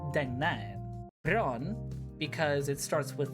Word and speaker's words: deknaen: was fully pronounced as deknaen. However, the K has begun to be softened, and merging with the N now is pronounced like an N sound, as in the NG